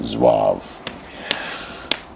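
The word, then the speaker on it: zouave: That's pronounced Zwave.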